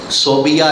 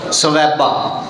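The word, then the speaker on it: ثویبہ: صوبیہ نہیں، اس صوبیہ نام غلط ہے، تلفظ غلط ہے، نام کی ہے؟ بولو سویبہ۔ اینو ابو لہب نے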